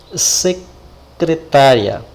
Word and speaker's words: secretária: Eu vou colocar aqui uma palavra também acentuada, secretária. Olha lá, secretária. Logicamente, a sílaba tônica é essa sílaba que tem um acento.